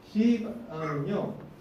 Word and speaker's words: 시바: 센 발음하면 안 돼요. 그냥 시바입니다. 그렇죠? 시바는요 사울의 손자이고 요나단의 아들 무비보셋의 종이었습니다.